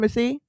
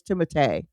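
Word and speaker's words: Timothée: Uh honestly I believe we are saying Timoth Tim Timothy. Yeah. But it actually is Timote. Timote but no one in America is really saying Timote because it's French and Shalame is how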